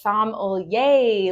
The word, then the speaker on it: sommelier: So it's sommelier, like yay, wine.